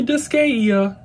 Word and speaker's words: Disgaea: No, it's definitely Disgaea. It's Japanese, so it's said differently.